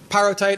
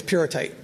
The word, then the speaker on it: pyrrhotite: to call the mineral pyro tight I don't that comes from thinking of pyrite but but it's actually the correct pronunciation is pure tight so the the mineral